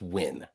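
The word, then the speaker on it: Nguyen: how is it pronounced win your guess is as good as mine but I'm telling you that all them letters put together jumbled up spells win n gu ye n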